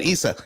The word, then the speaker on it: Issa: Issa, am I pronouncing your name correctly? That is correct.